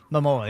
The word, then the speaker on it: Momoa: Momoa, yeah.